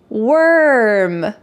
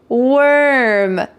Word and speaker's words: worm: Worm, worm. The first two, warm and warn have an or sound in the middle. Warm, warm. And the final word has er sound, worm, worm.